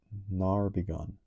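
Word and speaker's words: ne'erbegone: Pronounced nar begone.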